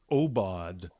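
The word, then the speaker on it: aubade: a a genre uh known as the obod um it's spelled a u b a d e a u b a d e oad which means a a morning song morning song so this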